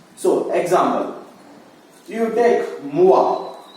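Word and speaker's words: moi: You should not pronounce wo-e. You have to pronounce it as wa. So, example. You take mua. Mu-wa. We should not pronounce mu-wo-e.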